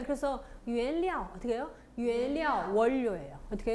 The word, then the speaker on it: 原料: 료 발음은 보통 있잖아요. 량으로 나요. 료 발음은. 무료하다도 그랬잖아요. 우려. 그랬잖아요. 우리 무료하다, 심심하다 할 때도. 그렇죠. 네, 그래서 原料 어떻게 해요?